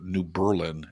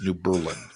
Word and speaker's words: New Berlin: to Milwaukee, Wisconsin, and kept pronouncing the suburb New Berlin as New Berlin. But the third time I did it, somebody finally corrected me and said, "Not since World War II. It's New Berlin."